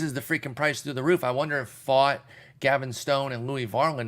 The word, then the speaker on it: Pfaadt: my uh OCS and it is pronounced fought as in I fought you odf a a d